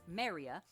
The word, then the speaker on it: メリア: Melia's Japanese name is pronounced Maria, 我が名はメリア。